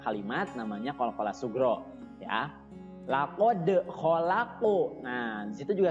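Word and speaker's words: لَقَدْ: Nah, di ayat yang keempat, laqad khalaqnal insana fi ahsani taqwim. Di situ ada laqad, huruf qaf ya, dibacanya harus terasa di sini ya. Laqad ya, bukan kaf tapi po ya, tidak keluar udara.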